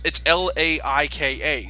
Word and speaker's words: Laika: Wait, you call it Lakia? I've always heard it pronounced Laika. Is it like? I'm pretty sure it's Lakia. Hello, we are professional people. Dun, dun, dun, dun, dun, dun. No, it's Laika, so I always pronounce it Laika.